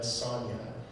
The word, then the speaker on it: Sonja: And that's why, if you read that original story, he always, when she introduced herself, it's Red Sonja spelled with a J, but Conan always pronounces it with a Y, and all of his word balloons, like he's calling her by her original name.